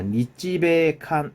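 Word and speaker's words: 日米韓: 그래서 자, 니찌베칸 읽을 때는 니찌베칸이라고 읽습니다. 우리나라로 하면은 한미일이라고 읽어야 되겠죠.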